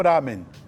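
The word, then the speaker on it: ramen: de um de outro na verdade as duas pronúncias estão certas né é que lá nem o melhor lamen né é a pronúncia chinesa né que significa que Originalmente esse macarrão ele ele é feito de um jeito que ele ele é esticado para ser feito o macarrão né e irá mim é a pronúncia japonesa né para esse prato né A Origem desse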